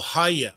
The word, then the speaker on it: Gaia: Haia is how to pronounce Gaia properly. When you say Haia, you are saying the return of the sacred breath. That's what it means. Haia. Haia. Haia. Yeah, not Gaia, because it's not Gaia.